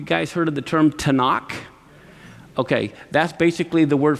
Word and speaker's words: Tanakh: is the writings so the tnk is the torah the prophets and the writing but it's pronounced tanakh the torah the naveem